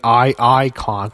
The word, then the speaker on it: Iconics: They're not the Iconic Duo anymore. They're the Iconics. That's how you pronounce the damn lettering.